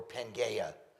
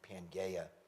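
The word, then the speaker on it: Pangaea: call the theory of pangia. All right? or panga, however you want to. I guess the the correct Greek pronunciation would be panga.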